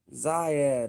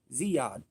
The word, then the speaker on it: Ziyad: Zayad, okay, Zayad, or what is it? Ziyad. Okay then, Ziyad's in the chat. Stop playing. I know how to say it. I know how to say it. It's Ziyad.